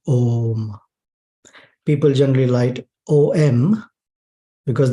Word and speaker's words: Om: So when we look at this sound Om, symbolized this way, we see that it is made of three syllables or three sub-sounds, A, U, and Ma. And when combined, the sound is Om.